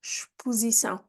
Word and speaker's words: exposição: Notice how we pronounce the X here, exposição, which means exhibition.